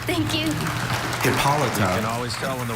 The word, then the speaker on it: Hippolyta: You Hippolyta.